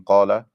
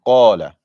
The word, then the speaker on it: qala: The most important thing in qala is the heaviness of the qaf. So qala, not qala.